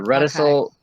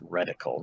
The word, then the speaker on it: reticle: The reticule I got with the clear targets. Yeah, there you go. I believe it's pronounced reticle, not reticule, but whatever.